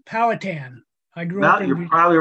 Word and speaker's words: Powhatan: the beginning you know not to correct you the pronunciation but it's powhatan i grew up probably